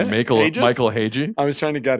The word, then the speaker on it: Hage: Michael Hagee.